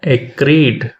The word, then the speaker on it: acrid: নয়া শব্দটি হউচি এ সি আর আইডি একিড উচ্চারণ করিবা এক্রিড যাহার অর্থ উচি অত্যন্ত কটু তীখন ও অসুখদ